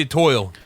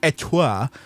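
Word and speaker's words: étoile: It's French. You have to French, you have to say it like you're a dog with Etoile. peanut butter stuck to the roof of your mouth.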